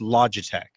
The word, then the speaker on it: Logitech: on paper ello GI te CH but it's pronounced Logitech okay loud okay thank you very much I